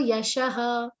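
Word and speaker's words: यशः: Again, important, yasho, yashaha, the pronunciation of avagraha, dragging that matra of O, very important. Otherwise, the meaning is lost.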